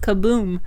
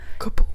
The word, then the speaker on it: Kaboom: But Justin saw the logo and he's like, "Oh, your name's Kaboom," and I was like, "Yeah, KBM, Kaboom." Kaboom. That's how we're gonna pronounce the acronym.